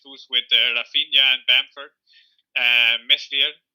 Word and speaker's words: Meslier: It would have been a bench boost with Rafinha and Bamford, Meslier or Melia. Yeah. I guess is the pronunciation in French.